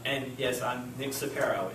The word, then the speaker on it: Ciparro: It's very hard to pronounce for some reason compared to its spelling. And don't worry, if you mispronounce it, I am perfectly fine with it because you'd be the 1 millionth caller. I promise you. I've heard it as Crisco, Ciparro, all kinds of different things.